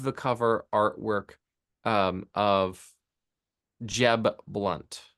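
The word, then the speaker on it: Jeb Blount: is I love the cover artwork um of Jeb blunt Jeb blunt it's spelled Blount o u but je blunt is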